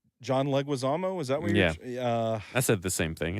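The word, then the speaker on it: Leguizamo: on a plane with John Malovich and John Lugazamo. John Leguisamo.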